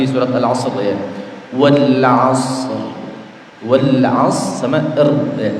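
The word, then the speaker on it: والعصر: Wal 'asr sama ya. Jadi ra-nya juga disukunkan. Hanya saja dia tidak dibaca sempurna.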